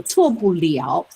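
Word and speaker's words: 错不了: Okay, so 错不了 in this combination, the pronunciation is 了, so it means can't be wrong.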